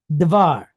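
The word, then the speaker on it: דבר: Then we have the letter vate again. Again, it sounds like a V, not a B, because there's no dot inside. And then it's pointed patach with a resh. V-ar, var. All right, so we have dvar.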